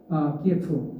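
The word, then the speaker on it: Київ: 여기에 대해서 이런 지역에 대해서 이제 크림반도나 돈바스 지역 러시아 주민들이 대대적으로 반발하게 되고 그 반발에 대해서 우크라이나 키예프 지금 키이우라고 하죠. 러시아식 우크라이나식 발음으로 키이우 정부가 대대적으로 이제 탄압을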